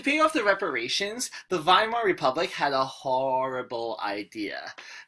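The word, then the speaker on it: Weimar: Germany is called the Vimal Republic okay the Vimal republic w's pronounces a V German okay so we have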